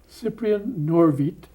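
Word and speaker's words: Cyprian Norwid: name improper polish please Cyprien not of it Cyprien nor vite his name up on top there it doesn't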